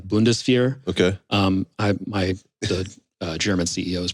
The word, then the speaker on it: Bundeswehr: It's pronounced like Bundeswehr.